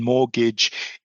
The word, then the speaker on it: mortgage: So the T in mortgage is silent and the B in debt or doubt is also silent.